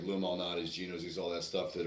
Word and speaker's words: Lou Malnati's: She took us out to lunch, and it was the first experience with it was what is it, Monaldo's, Louis? How do you pronounce Oh, it? Lou Malnati's.